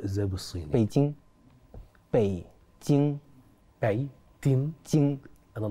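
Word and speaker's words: 北京: كميه ناس ما شاء الله اه هي بيكين بتتنطق ازاي بالصيني بيتين باي تين باي تين تين انا نطقت كده صحي تين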